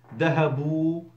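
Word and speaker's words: ذهبوا: or female, dual form, dhahabu wow alif, silent alif, written not pronounced, dhahabu they went masculine, plural, dhahabna they feminine went.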